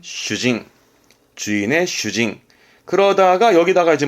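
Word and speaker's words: 主人: 발음은 슈징.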